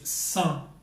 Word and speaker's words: cent: word for 100 is Sun Sun and it's pronounced the same way as the French word without we just felt very